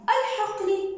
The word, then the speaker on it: الحقل: هنا الحقل اللام قمرية تكتب وتلفظ.